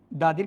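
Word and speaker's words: the: উচ্চারণ হবে দা যদি দি কখন হবে সচরাচর বাওয়েল এর পূর্বে যদি বসে তখন দ্বি উচ্চারিত হবে তাহলে তুমি এখানে একবার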